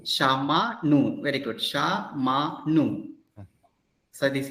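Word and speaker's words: שמענו: So ayin is not pronounced, but there is a guttural stop.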